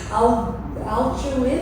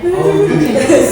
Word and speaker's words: Aljunied: I don't know how to pronounce this. Alchuid, is it? Arjuni. Oh, yeah. Aljunied.